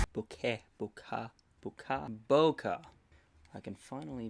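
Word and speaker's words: bokeh: see you okay Boca Boca Boca I can finally pronounce it properly okay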